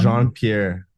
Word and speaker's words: Jean Pierre: I mean the present the the pronunciation. Uh Jean Pierre. Jean Pierre.